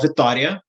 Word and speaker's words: Vitória: I did grow up in Brazil, specifically in a city called Vitória, which I guess in English you would pronounce Victoria.